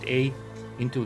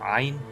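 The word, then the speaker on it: عين: Ain means where, but it's not Ain, it's Ain, Ain, Ain. So it's very difficult. So even if we change the first A into Ain, and we say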